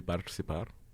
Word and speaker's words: participar: If it's a TI, it's cha.